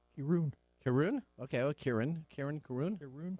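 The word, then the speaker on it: Kirin: Yeah, if it's Japanese, it would be pronounced Kirun.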